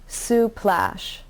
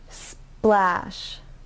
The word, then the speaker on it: splash: word splash spl splash if you add a vowel in between the cluster it will sound like suplash and that's not correct so when you pronounce it make sure that you don't add a vowel in between splash the first clusters that